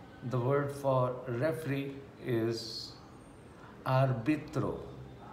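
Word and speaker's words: árbitro: word for referee is arbitro a r b i t r o so very easy to pronounce what we write the same thing we pronounce arbitro the word for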